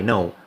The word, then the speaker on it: know: know that the word know I know which is we we see that the K here is silent why because we have